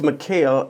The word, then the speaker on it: Mykal: male some yeah how is your name pronounced it's Mel and I was born Mel is the Arabic word for right yes so asalam